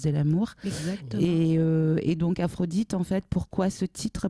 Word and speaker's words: Aphrodite: anciennes colonies, parce qu'Aphrodite, c'est pas ça se prononce et ça s'entend comme la déesse, un peu comme Diane, bien évidemment, la déesse de la chasse.